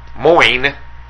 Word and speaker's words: Moines: with that no but but duh sounds like wh there's no s in there yeah moin there's no Queen what's